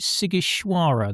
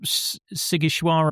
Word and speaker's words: Sighișoara: You set it in Sighiș, is it Sighișoara that you Sighișoara, yes. Oh, okay. Gosh, I'm getting my pronunciation correct for a change today.